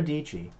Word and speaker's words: Dietschy: Sarah Dietschy rhymes with Peachy.